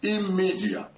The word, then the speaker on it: Immedia: It's Immedia, which is a combination of immediate media.